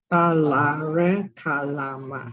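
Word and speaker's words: Āḷāra Kālāma: Pronounce it. Alarakhalama. Alare Kalama. Oh, great. This is again Pali pronunciation.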